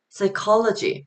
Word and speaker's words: psychology: 요 H란 letter는 여기서 소리가 나지 않고 뭐 그 외에도 psychology.